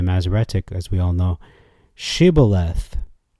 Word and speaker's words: shibboleth: as we all know shibboleth and he said siboleth for he could not frame to pronounce it right okay so I'm gonna